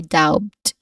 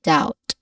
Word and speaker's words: doubt: B we do not say dowbed but we Say doubt. There's no letter B in the middle.